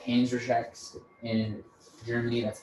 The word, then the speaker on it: Panzerschrecks: They're called I knew for a fact they were called Panzerschrecks in Germany.